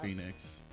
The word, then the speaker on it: Phenix: it was like a it's spelled Phenix got oh phix yeah I believe it was pronounced Phoenix gotta stupid best game about